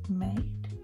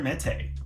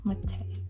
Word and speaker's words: Mete: Yeah, that's an easy one for you to pronounce. That's good. And then we've got Victor May. Victor Mete. Mete.